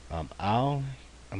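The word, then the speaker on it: אם: Ayin, most of the times you hear this pronounced as Im, but it's going to be an Aleph, a Tseri, and then a final Mem.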